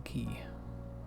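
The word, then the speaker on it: Quay: That is how you pronounce that, by the way. It's called the key.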